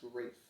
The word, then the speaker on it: Rafe: and leo for leonardo this movie insists that the character's name is pronounced reef and i'm not saying that wasn't how it was intended to be pronounced but i have never heard anybody's name as wraith before and it is the